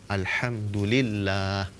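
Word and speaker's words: الحمد لله: Alhamdulillah juga begitu. Alhamdulillah. Lahnya panjang.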